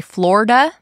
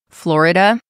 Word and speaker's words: Florida: Some people say Florida, as if it doesn't have an I. Other people say Florida. So, take your pick.